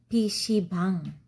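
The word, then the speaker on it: PC방: sebum his she bangs a Korean pronunciation PC bang PC bang and PC bang so it's a PC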